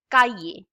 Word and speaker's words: cahier: How do we pronounce I? E. Cahier.